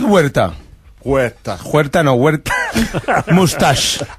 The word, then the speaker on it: Huerta: but it's not huerta. Huerta. What is it then? The H is silent.